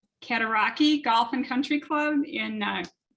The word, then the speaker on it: Cataraqui: Yeah, well, you did pretty good on the pronunciation there. It's Cataraqui, so really close.